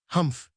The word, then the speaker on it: Humph: If you read this story aloud, please pronounce humph exactly as it is spelled for that is how he said it. Humph.